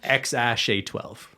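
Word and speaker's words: X Æ A-12: And apparently the AE is pronounced ash. So it's X-ash A12.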